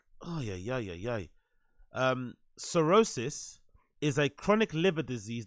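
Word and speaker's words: cirrhosis: on playo sorosis oh sorosis I'm saying Sor I'm saying I'm saying the the wrong pronunciation for the wrong word Co sorosis this is sorosis and what I said before was psoriasis right okay now I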